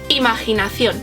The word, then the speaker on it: imaginación: It's a beautiful word, and in Spanish it's almost kind of the same, but we only have to change one letter and our pronunciation. So imagination in English and in Spanish is imaginación.